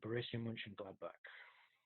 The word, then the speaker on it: Mönchengladbach: Leverkusen and Borussia Mönchengladbach.